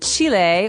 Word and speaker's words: Chile: a Brazilian and a Chilean. Okay. So, Brazil, Brazilian in this country there are many Brazilians and Chile or Chile as many Americans say um has people called Chileans.